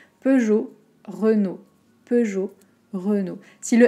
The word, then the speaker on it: Peugeot: de regarder heureux nos un peu comme peugeot on a le et le o2 dans les mêmes voyelles peugeot renault peugeot renault si